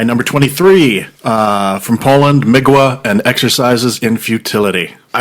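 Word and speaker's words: Mgła: A And it's pronounced Migua.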